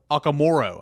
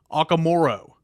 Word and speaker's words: Ogumoro: Tennessee's new commits on the offensive line, Antoni Ogumoro.